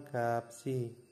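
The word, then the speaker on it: 값이: itu adalah ini ya gap ya gap itu adalah harga maka dibaca nya adalah gapsi gapsi begini ya Nah dibaca gapsi yang nomor dua itu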